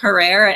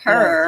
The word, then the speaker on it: Herrera: saying because I always said Jack Herrera, and apparently it's not Jack Herrera, it's Jack Herrera, it's like Herrera. terror. It's terror rhymes with terror.